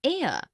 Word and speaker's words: heir: an inkpad, also an heir, an honest, an hour. Because the words heir, honest and hour begin with the vowel sound, as the initial consonant H is not pronounced.